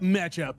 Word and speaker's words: Meccha: Before you got off, you should have been like, and it's pronounced Mecha.